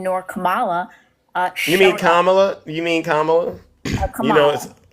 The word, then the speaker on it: Kamala: especially since Biden nor Kamala uh you mean Kamala you mean Kam you know you mean if